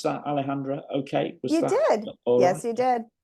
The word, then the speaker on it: Alejandra: be joined by Alejandra Alejandra Brady did I pronounce that Alejandra okay was that you did yes you did